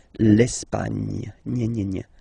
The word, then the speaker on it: Espagne: Okay, don't insist on the final E because basically it's not pronounced. L'Espagne. Gna, gna, gna. L'Espagne.